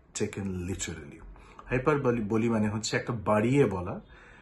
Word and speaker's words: hyperbole: of speech সেটার নাম হাইপার বলি হাইপার বলি এইচ ওয়াই পি ই আর বি ও এল ই অনেকে বলে হাইপারবোল that is wrong pronunciation মনে রাখতে হবে হাইপার বলি ওকে হাইপার বলিটা কি